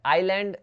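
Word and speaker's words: island: आइलैंड देखिए ना, ये आइलैंड, आइलैंड, यहाँ पे एस जो है साइलेंट रहता है, तो ये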